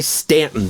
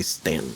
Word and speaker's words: Staunton: They say Stanton down there. Do but they? It's spelled, Okay. It's spelled Staunton. Everybody else calls it Staunton. All right. But people down there say Stanton.